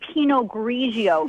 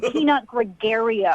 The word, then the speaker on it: Pinot Grigio: You don't even know how to say Pinot Grigio. It's not Pinot Gregario.